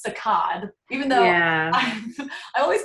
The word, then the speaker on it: saccade: recording, I actually Googled the correct way to pronounce it. All right, what did Google tell you? Google suggests that it's saccade, even though I always called it saccade, but I've heard both.